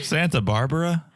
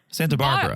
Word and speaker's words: Santa Barbara: way you're saying it you're putting the accent on the wrong syllable have you been no